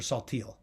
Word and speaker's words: Saltiel: And the owner was Joseph Samuel Saltiel, or Saltiel, as the name is pronounced these days.